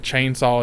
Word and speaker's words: Chain Saw: information at the beginning they even say it like it's two words yeah make sure he's like The Texas Chain Saw Massacre like instead of saying chainsaw yeah yeah there's a